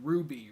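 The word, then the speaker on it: RWBY: have a SE sell shaded anime series called Ruby Ruby spelled with the w so I watched the first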